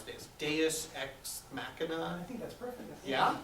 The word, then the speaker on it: deus ex machina: I think the mistake that we make is to kind of treat that as the, I always mispronounce this, deus ex machina.